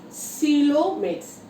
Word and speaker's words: coelomates: Coelomates. This spells C-O-E-L-O. C-O-E-L-O-M-A-T-E-S. But I am pronouncing coelomates. O is silent here. We should not pronounce the O.